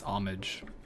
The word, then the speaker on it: homage: homage to that game is that pronounce h much or is it omage let's find out I can also never spell pronunciation homage it's homage okay all right homage um